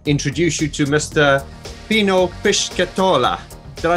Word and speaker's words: Pischetola: Pino Pischetola.